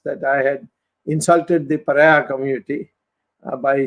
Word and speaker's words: pariah: Jayalalitha also had, once I had said, LTT is an international pariah. and pronounced in the English word is pronounced as paria. If I'm right, they don't say pariah, they say paria.